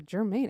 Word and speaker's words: Germaine: Yeah, Germaine. It has to be pronounced Germaine.